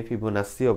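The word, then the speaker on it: Fibonacci: এবং এই ধারাকে বলা হয় আমাদের গাণিতিক ভাষায় ফিবো নাক্কি ঠিক আছে অনেক জায়গায় ফিবো নাসি ফিবো নাসিও বলে তো আমরা জাস্ট বাঙালি হিসেবে এটারে নাক্কি নাক্কি করি ওকে তো এটারে এটারে অনেক জায়গায় শুদ্ধ উচ্চারণে ফিবো নাসিও বলে তো আমি ভাই দুঃখিত আমি ফিবো নাক্কিটাই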